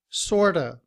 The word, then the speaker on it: sort of: But in reduced form, we drop the V sound at the end of, and we say sorta, sorta.